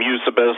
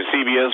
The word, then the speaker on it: Eusebius: people pronounce his name eusebius some people pronounce the eusebius but he lived about